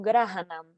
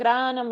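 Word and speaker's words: घ्राणं: It's supposed to, it should be one syllable, but it's Rasanam granam eva cha. yeah. So it's like there's ga and ga. Rasanam granam. Grahanam. Rasanam granam eva cha. Yeah. Okay. So it's not two syllables.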